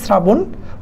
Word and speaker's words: শ্রাবণ: তারপরে যদি একটু দেখো, আমরা শুদ্ধ উচ্চারণ যদি দেখি, রবীন্দ্র শব্দের শুদ্ধ উচ্চারণ হবে রবীন্দ্র, শ্রাবণ শব্দের হবে শ্রাবণ, প্রভাত বেলা হবে প্রভাত